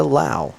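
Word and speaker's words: Low: going on, but I did run into Rebecca Lau. It's spelled L-O-W. Rebecca Lau.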